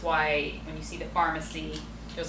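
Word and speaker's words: Farmacy: So the brand is called Pharmacy, spelled with an F-A-R-M, and it is the main ingredient in there is this patented form of echinacea called Echinacea Green Envy.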